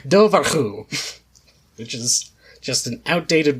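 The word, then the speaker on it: dobhar-chú: mainstream you've got the i looked up how to pronounce it properly let's see if i could do it it's the dovahku which is just an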